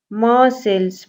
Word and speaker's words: Marseille: Marseilles. Pronounce it again, Marseilles.